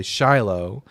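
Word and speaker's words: שילה: So anyways, just so everyone knows, in he in English, you some Bible translations say Shiloh. In Hebrew, it's pronounced shilo.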